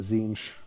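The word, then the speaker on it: Tzeentch: rubric Marine it gets the Zen marks I realized I learned recently that that's how that's pronounced um and whenever you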